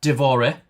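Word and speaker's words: dévoré: Divore. So it usually has an accent. That is D-O-V-O-R accented E.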